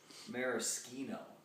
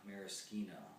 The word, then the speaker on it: maraschino: our cherries out and i believe it's pronounced maraschino if you're italian maraschino and then we look